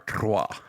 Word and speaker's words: trois: 10 Trois. years. You got to roll your R. Trois.